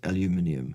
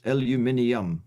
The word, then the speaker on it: aluminium: said but I do agree with B that pronunciation is aluminium yes it is aluminium correct yes um is it okay to cook